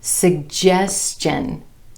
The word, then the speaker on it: suggestion: And this happens when there's an S before the TION ending, as in question, question. Did you have a question? And also suggestion, suggestion.